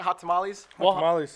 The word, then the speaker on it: Hot Tamales: entry of hot tom how about am i pronouncing that hot tamales yeah not tamales against our wild card candy